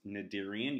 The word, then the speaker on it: Cnidarian: Cnidaria now it's pronounced nadir Ian you do not pronounce the C remember invertebrates do not